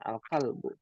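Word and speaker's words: القلب: Al alalb bu ya jangan sampai tanwin dibacanya alqalbu Ma makna alkalbu anjing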